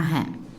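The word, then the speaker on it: हाँ: இது ஹிந்தியில் ஹா அப்படி தான் ப்ரொனவுன்ஸ் பண்ணணும். ஹான் அப்படின்னு சொல்லக்கூடாது, ஹா, ஹா.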